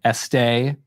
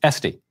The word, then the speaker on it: Estee: First off, when I first saw your name, I was tempted to pronounce it Estee, as in louder, but it is Estee. Yes, no accent, so very American version.